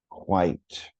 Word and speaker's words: quite: For example, one that comes to mind that was on the 4th grade writing test several years ago was the word quite. Quite. One syllable.